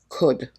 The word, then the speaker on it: could: Notice the pronunciation of this word, could. The L is silent.